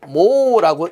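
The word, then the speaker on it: mho: 그래서 단위도 옴분의 1 혹은 이렇게 옴을 거꾸로 써서 모라고 읽습니다.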